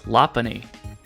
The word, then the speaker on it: Lopunny: Yes, that's right, it's Lopunny, which a lot of people seem to refuse to accept, but it's actually based on a lop rabbit, so yeah, Lopunny.